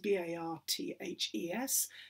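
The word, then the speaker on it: Barthes: that's spelt uh baths b-a-r-t-h he was french so it's pronounced bart but absolutely keep on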